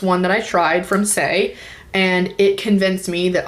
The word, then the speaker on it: Saie: Let's talk about Saie. I believe that's how you pronounce this brand. This is S-A-I-E. Yes, Saie.